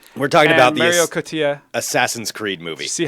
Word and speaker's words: Cotillard: We're talking about the Mario Cotillard. Assassin's Creed movie. See how I pronounced her name so well? I stepped over Marion it, so. Cotillard. Wait, what? That's how you pronounce it.